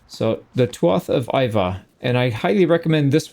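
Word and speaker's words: Iveagh: This is pronounced Iva. So the Tuath of Iva.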